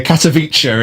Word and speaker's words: Katowice: Katowice is the correct pronunciation of the town in Poland.